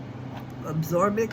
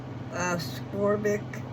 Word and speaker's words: ascorbic: Absorbic acid. I'm probably saying it wrong. ascorbic acid. So it's a s o r b i c.